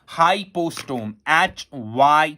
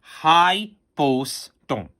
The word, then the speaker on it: hypostome: मैं आपको इसकी स्पेलिंग बोलता हूं बेटा, hypostome, HYPOSTOME.